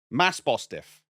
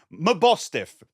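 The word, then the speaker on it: Mabosstiff: it's evolved form my boss my boss stiff Mass bostiff how do you say its name bostiff yeah the S comes after my bostiff there are two main reasons for this one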